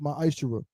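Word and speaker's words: מעשר: In Malachi 3:es 8-10 means 10th in the Hebrew is pronounced my isher.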